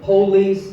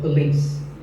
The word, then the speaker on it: police: This isn't police or police. It's pa and lease, with the stress on lease. So, police.